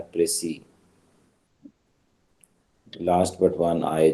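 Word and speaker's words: précis: प्रेसी जो है ना, ये इंग्लिश वर्ड नहीं है, ये फ्रेंच वर्ड है प्रेसी। इसमें लास्ट एस साइलेंट है और आखिरी आई जो है वो प्रोनाउंस होता है प्रेसी, लास्ट बट वन आई जो है।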